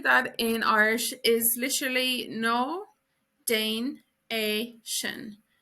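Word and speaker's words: Ná déan é sin: So don't do that in Irish is literally no Dane a shin. No Danation. No Danation. Don't do that. And also this D can be pronounced like a J or a G sound in Ulster and Connacht.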